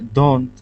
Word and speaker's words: don't: That T is not really pronounced. But the problem is if you um who are learning English don't concentrate on the T, it will become a very long sound like don it doesn't um it doesn't sound like this like the correct pronunciation of that word anymore like because it it